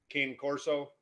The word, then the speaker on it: cane corso: Yeah, I've got an 82-pound cane corso. Cane corso is the correct pronunciation, but everybody knows it as a cane corso, Italian mastiff.